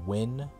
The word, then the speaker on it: Win: I annoyed my friend one time because her last name is Win. You know, that Asian name Win. But I kept calling her Nugayan. Because that's how the fucking name is spelled. Why would you spell it Win? It's like, how does that translate over to English, really? Why not just spell it W-I-N-N, right? That's Win right there.